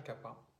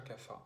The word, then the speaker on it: Kapha: la saison du dosha Kapha ou du dosha Kapha. Ça dépend si vous prononcez à la mode occidentale ou plutôt la mode sanskrit. Les deux sont très bien.